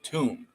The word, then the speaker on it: tomb: how when you say t m b it's tomb change the T for a c it's calm